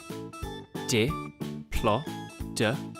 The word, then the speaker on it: Diplodocus: Diplodocus.